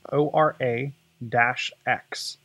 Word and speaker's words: Ora-X: holic so this is called I'm guessing it's pronounced aura X its Oro - X and they're headphones that include a flippable AR